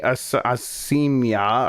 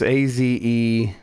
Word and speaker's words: Azeyma: Okay, so it was Musubi Asimya or Azama said it's not enough that we just forgot to say it last week. Now you got to mispronounce his name. It's Azeyma, and there's no guarantee that it's a he.